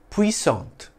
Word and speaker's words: puissante: In French, it's pronounced puissant, with a silent T, though its feminine form, spelt with an E at the end, is pronounced with a soft T sound at the end, puissante. In English, it's pronounced puissante or puissant.